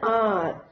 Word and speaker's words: hour: He can run at 50 kilometers an hour. So here H is silent, an hour.